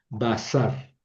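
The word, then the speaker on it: בָּשָׂר: Basar. Bas. Note que es una sin bazar.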